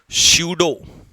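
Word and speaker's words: pseudo: शूडो P silent रहेगा।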